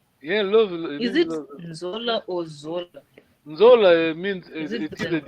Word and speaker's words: Nzola: When you say the word Nzola, be careful because this is the how to say it, connotation. Yes, Nzola. You know Zola. People are lazy. You know. Isaiah. Okay, so there's a nasal.